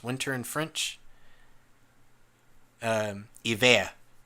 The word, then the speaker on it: hiver: Hiver. Hiver. I-V-E-R. Oh, so De Vere basically.